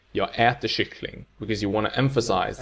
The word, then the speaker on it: kyckling: But, together in a sentence, prosody takes over, and we only stress the final word, kyckling, with accent 2.